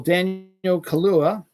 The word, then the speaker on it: Daniel Kaluuya: Well, Daniel Kaluuya, not Kahlua, that's alcohol, is co-writing a standalone Spider-Punk animated film.